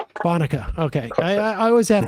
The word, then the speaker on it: Bonica: Uh Bonica. Bonka.